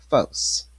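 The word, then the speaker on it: φῶς: This is 5457 and we pronounce this as fos fo c e is a phonetic spelling and it means fire and it means light.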